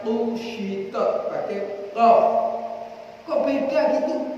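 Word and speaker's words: قشطت: Wa qara'a Ibnu Mas'ud kusyitat. Pakai qaf. Wa idas sama'u kusyitat. Kalau yang mau pakai kaf. Tapi Ibnu Mas'ud bacanya kusyitat pakai qaf.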